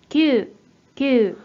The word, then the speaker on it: 級: 이 한자는 뜻으로는 발음이 없고 음으로만 級、級 라고 길게 읽어주시면 되는데 자, 바로 예문 들어가 볼게요.